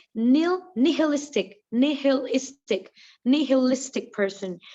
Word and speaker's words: nihilistic: i hate the pronunciation it is knee hill nihilistic right nihilistic now what does this word